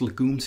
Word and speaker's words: legumes: yes it's actually pronounced legumes in in the us it's obviously inspired by the french word of legume which means vegetable i presume it's it's